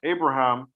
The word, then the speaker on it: Abraham: So you will see the word like Abraham with a B, not with a V.